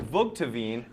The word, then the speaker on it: Vugteveen: And to correct you on the name pronunciation, it's Callie Vugteveen, who is the kills leader for Oswego.